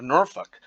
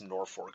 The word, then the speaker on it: Norfolk: uh but uh also the pronunciation of norfolk is a dead giveaway for someone who has not spent any time at all in nebraska in nebraska it's norfolk so there's some you